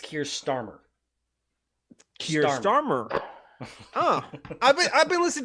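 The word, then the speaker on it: Keir Starmer: is he dear stammer is how the brits pronounce it it's kier starmer curious oh i've been listening to navarro media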